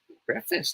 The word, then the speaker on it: preface: tutor dj talk tuesday he said that it should be pronounced as breakfast yeah preface now how should we